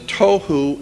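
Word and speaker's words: תהו: The two Hebrew words that are being translated there is tohu and vohu. Pronunciation, it would be T-O-E-W-H-O, tohu. That's not the way it's spelled in Hebrew, but that's the way it's pronounced.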